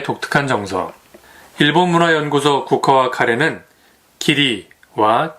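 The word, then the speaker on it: 義理: 일본문화연구소 국화와 카레는 기리와 기무에 대한 이야기가 나옵니다. 기리는 의리의 일본식 발음이고요.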